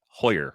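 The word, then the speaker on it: Heuer: not doing that it's cody hoyer right the german pronunciation the correct pronunciation and one of the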